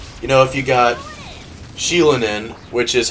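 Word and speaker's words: Xilonen: might look like you know if you got sheilan in which is how you actually pronounce it I've been saying it wrong this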